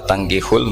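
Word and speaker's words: تَنكِحُوا: Jadi ya, saya ulang lagi ya, mestinya bacanya wala tangkihul musyrikati hatta yu'min bi fathit ta.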